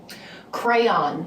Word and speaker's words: crayon: when you have a coloring book, how do you pronounce the instrument that you use to color in? Crayon.